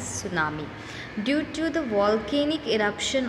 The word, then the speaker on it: tsunami: Today we will learn another natural disaster, tsunami. Here T is silent, okay? So we will call this as tsunami.